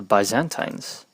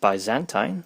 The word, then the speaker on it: Byzantine: a people called the byzantines who are they now first of all people haven't even agreed on how to pronounce their name I've heard Byzantine I've also heard bantine which is what I prefer and there's a few